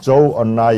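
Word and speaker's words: 周恩来: 네, 조얼라이 중국 총리, 요거는 조금 아마 생소하죠. 여러분 주을레라고 하면은 아마 쉽게 아실 겁니다. 주을레가 조얼라이구나. 예, 주은레를 중국식 발음대로 하면은 조언라이 이렇게 됩니다.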